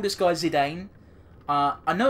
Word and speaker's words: Zidane: gonna call this guy's a Dane uh I know it's been out I think it's pronounced Zidane because as if there was a French footballer with the same name who was pronounced like that but it's just ingrained